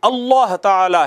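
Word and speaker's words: الله تعالى: देखें, एक है लफ्ज़ बग़ैर शद को प्रॉपर प्रोनाउंसिएट किए अगर आप पढ़ते हैं, अला अला अला, ये अला नहीं है, अल्लाह ताला, अल्लाह ताला नहीं है, ये अल्लाह ताला है।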